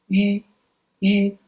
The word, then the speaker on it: yu: Well, in this syllable, yi is silent. We just pronounce yu sound. Yu, yu.